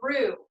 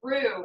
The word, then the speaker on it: roux: It's going to start warming up our oil, and then what we're going to do is we're making a roux. That word is spelled R-O-U-X.